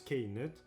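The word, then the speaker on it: Knut: Ou si l'on se retourne du côté de JK, qui, via Pottermore, nous révèle que cela se prononce K-nut, cela se rapproche de peanut, cacahuète.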